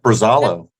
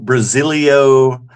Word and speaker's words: Brazalo: How do we properly pronounce Brazalo? Just like that, Brazalo. Hey. Perfect. Yeah, I was impressed. We've had it butchered pretty bad. Like, you have to have. People put extra letters in there. Like Brazalo. Brazalo, Brasilio. Hank Bass Geek was Brazaro.